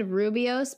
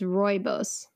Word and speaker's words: rooibos: wondering how you pronounce so I always said Rubios because I put the eye in the wrong place but now that I stared at it many times it's Rooibos it's not Roy though it's Rue it's Roy